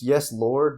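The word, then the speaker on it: Yes Lawd!: It's Yes Lord, but it's spelled LAWD.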